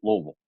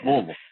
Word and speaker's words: Louisville: You can tell the folks who are from home because they say Louisville. Okay. Louisville, just all strung together. There's no break. Sounds like two syllables, but all just runs together there in Louisville.